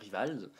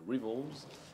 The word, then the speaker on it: Rivals: Alors, à prononcer comme vous préférez, hein, la française, hein, Rivals, ou à l'américaine, Rivals.